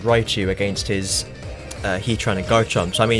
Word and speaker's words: Garchomp: His final one is Garchomp. Why did I say it like that? Garchomp. Garchomp. Which is, you know, Togekiss is fine.